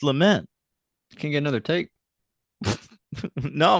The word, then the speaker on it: Lament: the Henriksen's house, but one woman says Lamont configuration. Huh. I It thought was that just was interesting.